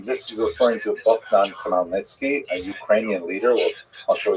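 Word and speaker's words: Khmelnytsky: It's actually pronounced Nitski uh with a guttural at the beginning.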